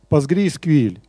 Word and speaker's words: PostgreSQL: Правильное произношение вот этой базы данных – одно из самых, наверное, сложных названий – PostgreSQL.